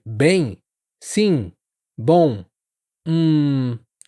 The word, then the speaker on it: bem: Bom, hum, todas essas palavras t uma vibração que acontece aqui, ó, perto do nariz. E muitos falantes em inglês acabam pronunciando esses sons eh de forma mais oral, sem essa nasalização.